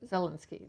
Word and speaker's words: Zelensky: You pronounce it Zelensky, is that? Zelensky. Zelensky.